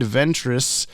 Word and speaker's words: Ventrix: ventrix with an X in the credits but pronounced Ventress in the episode according to Dan Reba the name Lloyd Ventress comes from the original mirror man Floyd of